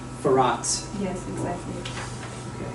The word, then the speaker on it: Firat: So it's the second syllable a little bit is the emphasis, because I said Firat, but it's Firat.